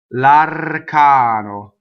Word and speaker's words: l'arcano: Seguono, l'arcano. L'arcano. So the R is rolled. One N.